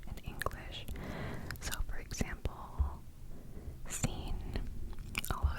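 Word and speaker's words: سين: English so for example scene although it's kind of difficult to write at first is like the letter s so that's literally how it's pronounced scene scen scene scene scene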